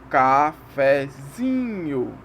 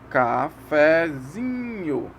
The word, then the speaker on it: cafezinho: Aqui tem um exemplo. Cafezinho. Ó, de novo. Cafezinho. É uma escadinha, ok? Depois do que a tônica aqui é o zin, a sílaba zin. E o fé é a subtônica. Então vai fazer uma escadinha. Como a primeira sílaba é átona, a gente faz uma subidinha. Então é cafezinho.